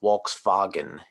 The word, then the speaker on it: Volkswagen: are pronounced like w's so like volkswagen the car it's actually pronounced walks fagan in german all right so king